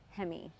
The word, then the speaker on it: Hemme: the business um him everybody well I think you should probably say my name right hem retake Hemi H H that guy